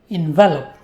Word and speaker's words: envelop: First of all, remember that this word is a verb and it is stressed on the second syllable. Envelop. It is not a noun envelope, which is stressed on the first syllable.